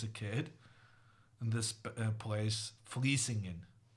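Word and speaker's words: Vlissingen: kid, in this place, Vliesingen. And as a kid, I did not have a lot of sympathy for someone writing a V and saying an F.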